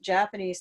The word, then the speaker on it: Japanese: we don't like 2 stressed syllables next to each other. Yeah, in fact, let me do this let me write it the right way. So we're going to say Japanese.